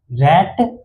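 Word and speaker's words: rate: रैट होता है ना लेकिन अगर इसी रैट में अगर क्या लग जाए इ लग जाए क्या लग जाए इ लग जाए रैट के बाद जस्ट इ लग जाए तो इसे रैट ना पढ़ के इसको क्या बोलते हैं रेट बोलते हैं मतलब अगर इ लास्ट में आ जाए तो असल में ये इ अपना साउंड जो है ये इ अपना साउंड ए के जगह पे लेता है।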